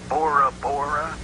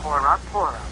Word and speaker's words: Bora Bora: Sounds real nice, but isn't it pronounced Bora Bora? Not in Tahitian. That language has no letter B. It's Bora Bora, which means firstborn.